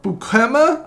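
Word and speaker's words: Beukema: Next up, we have a very good aerial center back, Sam Bukema, I believe is how it's pronounced, from Bologna, 6.8 to 9.8 million pounds, very solid overall.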